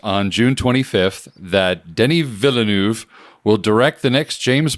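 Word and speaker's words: Villeneuve: So, the big discussion news is that Denny Vanu or Villanuv, is it Villanuv? I think you just pronounced the L's. It's Villanu.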